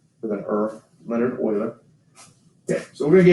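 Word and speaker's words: Euler: after good old Leonard Oiler and it's spelled e u l e r and it's kind of pronounced like um the word oil with an earth Leonard Oiler okay so we're going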